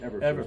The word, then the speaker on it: Eberflus: Everflus, am I Yeah, pronouncing that? Eberflus, Matt Eberflus, Matt right.